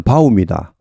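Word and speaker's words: bow: 이런 의미일 때는 발음이 달라져 버립니다. 앞에 두 개는 그냥 바우입니다. 뒤에 활일 때는 보우가 되죠.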